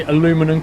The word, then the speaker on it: aluminum: Americans say aluminum correctly. They do, because they spell it as aluminum. However, in Britain we don't spell it as aluminum, we spell it as aluminium, so we say it correctly too. In that particular case, that's not a pronunciation problem, that's a spelling difference. Aluminum and aluminium are spelt and said differently.